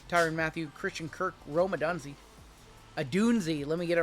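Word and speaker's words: Odunze: Russell Wilson, Tyrann Mathieu, Christian Kirk, Rome Adunzi. Adunzi, let me get it right. Rome Adunzi. They roasted me in my video I uploaded today. Listen, Got the mispronunciation wrong.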